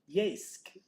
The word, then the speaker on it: Yeysk: how to say this, Yeysk. It sounds like I'm saying yes, but it's yeah, and it's a Yeysk.